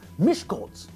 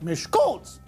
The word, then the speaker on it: Miskolc: In Hungarian, we know that the stress always falls on the first syllable of a word. It's omega, not omega, and not omega. The city is Miskolc, not Miskolc. Fine, but that only works in Hungarian.